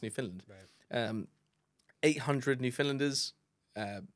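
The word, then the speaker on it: Newfoundland: British territory in Canada New Finland um new it's spel spelled New Foundland but I think it's pronounced New Finland um 800 new finlanders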